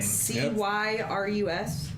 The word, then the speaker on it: Cyrus: season that's another thing c-y-r-u-s c-y-r-u-s of Bellevue turns out how you spell it doesn't doesn't actually matter like syrup but not yep Cyrus of Bellevue